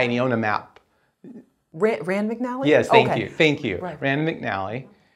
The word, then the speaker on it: Rand McNally: Rand McNally?